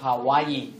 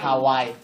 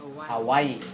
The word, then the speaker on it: Hawaii: The models arrive at a sugarcane field in Hawaii, where nhớ là Hawaii, ta phải đọc là Hawaii, right? Not Hawaii. Okay? Hawaii.